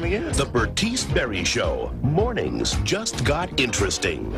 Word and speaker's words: Bertice Berry: My aunt's name's Bernice. No, Bertice. Bertice Berry. How do you say it? Bertice Berry.